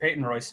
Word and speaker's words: Peyton Royce: I might have mispronounced. Is it Peyton Royce? Are we Brazilian? No, you got it. Peyton Royce.